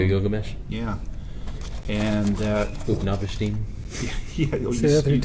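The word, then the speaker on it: Utnapishtim: Upnavashtim? Yeah, you pronounce that very well, by the way.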